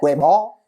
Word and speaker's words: Weibo: Sí, en chino se dice Weibo.